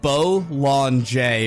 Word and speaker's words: Bollinger: DM me about it Bolan bolt bow lon J but the J is very soft sorry Bowl on J but like what are